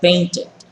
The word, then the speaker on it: painted: agregándole Ed al final y esa Ed final se lee completa painted pintado listo entonces Espero